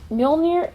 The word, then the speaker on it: Mjölnir: Let's take a look at Mjölnir.